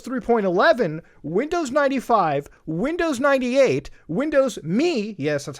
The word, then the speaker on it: Windows Me: Windows 3.0, Windows 3.11, Windows 95, Windows 98, Windows Me, yes, that's how they pronounce it, Windows 2000, Windows XP, Windows Vista, Windows 7, Windows 8.1, Windows 8, then 8.1, and then Windows 10.